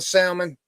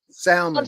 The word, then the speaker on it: salmon: I grill the salmon. Stuff like that. Anything else she does? You grill the what? Salmon. Salmon. I'm sorry. Salmon. Salmon. You don't pronounce the L.